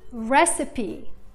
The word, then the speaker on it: recipe: Recipe Recipe. مش بس نطقنا حرف الإي ولكن تحول إلى صوت إي.